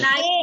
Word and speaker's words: knife: And in knife, very nice. So what is K? K is a silent letter.